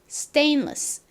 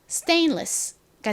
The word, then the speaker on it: stainless: 등으로 부르는 재질로 만든 물건들인데 이것을 정식 영어 발음으로 읽으면 스딩 스텐 스텐레스가 아니라 stainless stainless입니다 바로이 단어인데요 저희가 방금 전에 배운 얼룩